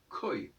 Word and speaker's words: quoi: On ne doit pas dire quoi, on dit quoi, on doit dire koi.